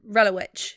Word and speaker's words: Relowicz: How would you pronounce this is fucking stupid for somebody called Talicza, but how would you pronounce a C and a Z together? Like a ch. Yeah. Right? So Relowicz.